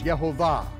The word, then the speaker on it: Yehovah: But according to the most ancient vocalized text of the Hebrew scriptures, his name is Yehovah.